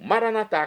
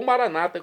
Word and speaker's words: Maranatá: E agora eu clamo, Maranatá, como dizemos nós católicos, é do dialeto de Jesus, o aramaico, ou Maranata, como dizem nossos irmãos separados das comunidades evangélicas ou protestantes. Não importa a pronúncia.